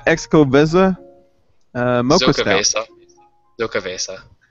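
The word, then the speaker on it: Xocoveza: Zocovesa. Zocovesa. No, it There's says actually a xylophone. So like pronunciation. Zocoveza.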